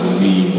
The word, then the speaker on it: meme: The second E is silent.